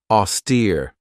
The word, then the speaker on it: austere: this one right here auster this has two syllables and the stress is on that second syllable with that long e sound auster if somebody or something is austere it means that they're